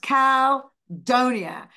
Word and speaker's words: Caldonia: way of seeing it should be but it's pronounced Cal Donia because of course it's New Orleans it I